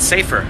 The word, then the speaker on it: Saffer: Or is it Safer? I don't even know. That's probably Saffer. My mom used to work for Saffer Advertising as her first job. She was a copywriter, so that's how you pronounce it.